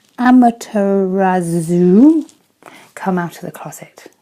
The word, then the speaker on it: Amaterasu: I'm going to try and pronounce it's Amaterasu.